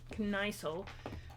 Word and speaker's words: Kniesel: Well, anyway, I was pronouncing it as Knickel, so you know, Kniesel.